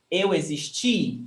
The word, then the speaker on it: existi: And the past for eu existi. The stressed syllable is ti.